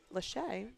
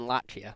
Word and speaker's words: Lachey: If he can take care of Lachey, they're telling us it's pronounced, that would be huge. That makes a lot more sense than Lachia.